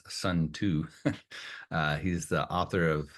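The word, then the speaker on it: Sunzi: of quotes from sza who is frequently pron pronounced as sun to uh he's the author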